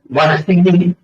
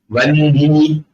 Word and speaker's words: வஹ்னி: இதுல வஹ்னி அப்படின்னு எழுதுற பழக்கம் வச்சிருக்காங்க. அது அது மாதிரி பிரக்மா அப்படின்னு எழுதுற பழக்கம் வச்சிருக்காங்க. அத உச்சரிக்கிறது பிரம்மா வன்னி அப்படின்னு உச்சரிக்கணும். வா இன் ஹி இந்த ஹகாரஹி. ஆமா, அதனால தமிழ்ல இருக்கும்போது அது வன்னியே மாறிடும். வஹ்னின்னு சொல்லி கஷ்டப்பட வேண்டாம்.